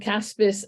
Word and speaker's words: CASBS: do you pronounce that is it just c-a-s-b-s you do you do try and pronounce the acronym thank you um and caspers uh they managed some of the programs and project caspers that's what you do including ethics and Society